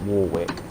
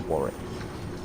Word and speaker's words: Warwick: I know a lot of people pronounce it Warwick, but it's Warwick.